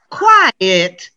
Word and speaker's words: quiet: mix up quit quite quiet look quit one syllable like i quit my job white like he's quite tall yeah again one syllable now listen to two syllables quiet quiet so if i can't